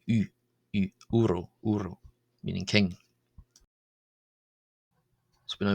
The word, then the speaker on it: ⲟⲩⲣⲟ: u u uh so the diagraph uh o absilon here is pronounced as u not w because it's coming before a consonant and therefore or simply representing a vowel sound. Uro uro meaning king.